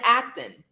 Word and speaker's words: Acton: I want you to remember Brian Acton. His name rhymes with action.